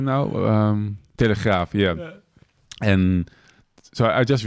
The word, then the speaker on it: Telegraaf: Wait, is that how you say it? Telegraaf. I thought it said telegraph. Yeah, that's the English version. We like the in this country. Graaf.